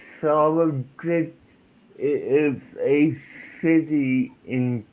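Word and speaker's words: Solingen: okay the SOLING is pronounced solid.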